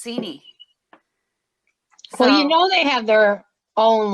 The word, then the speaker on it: Seney: Okay, so when I read it before, it said that it's pronounced Saney, but then I'm talking to Scott, who spent a lot of time up there, and he said it's Seney.